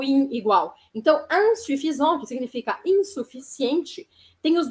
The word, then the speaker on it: insuffisant: com IN no começo, vocês querem pronunciar igualzinho o português. E aí falam in. E aí não funciona, porque eles não vão entender.